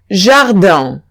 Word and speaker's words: jardin: La IN se pronuncia un, entonces diría jardin.